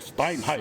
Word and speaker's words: Steinheim: Steinheim.